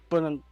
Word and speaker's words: Buonanotte: He didn't really get any good chances except for that one chance where I think it's Buonanotte, or how do you say his name again? Buonanotte.